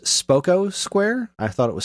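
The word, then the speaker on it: Spocco Square: It's pronounced Spoko Square. I thought it was Spoko, but it's Spoko.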